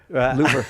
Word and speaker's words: Louvre: Rhymes with doer. Louvre.